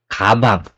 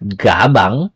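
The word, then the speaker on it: 가방: a Hey Okay so for example is kabang kabang not gabang It's kabang okay but agag diyan ay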